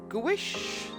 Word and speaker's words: gouache: I hope you enjoyed watching this and watching the first me trying Gouache. That's the pronunciation.